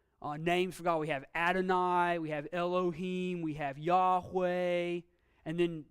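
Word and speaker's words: אֱלֹהִים: had we can see we have the hot off c go underneath the olive but it's still a sound yeah low peen elohim name for god that's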